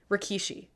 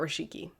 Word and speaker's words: Rikishi: assume they'll bring out I always say his name wrong Rikishi yeah not rashiki no you had it right Rikishi I assume he'll